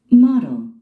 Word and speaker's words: Model: Model. Model. 그러니까 미국인들은, 즉 네이티브인들은 D나 T 발음을 순하게 발음을 하죠? 주로 R 사운드로 많이 바뀝니다, 여러분들.